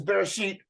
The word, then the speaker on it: Bereshit: anyway so this is bear sheet and R ish all f r the sheen is a sh sound you would yeah and the TA is the T sound so you sound it out and if we look